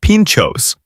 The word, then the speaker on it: pintxos: Pintxos, pronounced pinchos, are a Basque style tradition that has spread beautifully across Barcelona and represent perhaps the single greatest budget food hack in Spain.